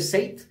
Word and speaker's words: Zeit: de hoy un sencillo llamado Sight, o Sight, se escribe Sight, Sight, me parece que es la pronunciación, que